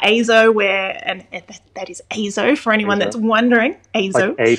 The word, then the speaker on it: EIZO: we're talking about azo where and that is azo for anyone that's wondering a to z azo yes that's right that's right it's always very